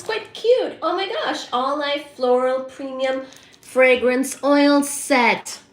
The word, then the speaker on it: Auelife: So, um, All Life Store is the sponsor for tonight's live and that is spelled as a U E L I F E.